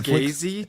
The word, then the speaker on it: Scorsese: Scorsese? Did you Yeah, call yeah. him Scorsese? That's how it's pronounced.